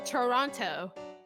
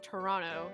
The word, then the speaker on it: Toronto: If you talk to anyone from Toronto, they're going to pronounce it as Toronto and not Toronto, like how it's actually spelled.